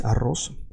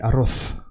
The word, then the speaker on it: arroz: You notice that I'm saying like an S, arroz, because in Latin America we say like an S. In Spain they say arroz, like TH.